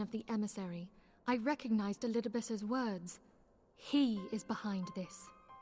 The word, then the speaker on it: Elidibus: That's how you say that guy's name, Elidibus. Elidibus, yeah. Elidibus is saying it right.